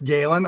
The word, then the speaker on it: Gellen: our work and Steve Gellen is that how you say your name Steve yeah oh sorry Steve I think you're on mute yeah it's gayen I have to tell everyone how to pronounce it it's okay uh I